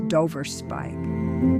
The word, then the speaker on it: Dover Spike: It's Dover spike. Dover, like the cliffs. Spike, like the nail.